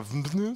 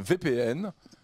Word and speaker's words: VPN: intéresse utilisez vous un il faut prononcer vpn c'est pas venu c'est un vpn qui veut dire comme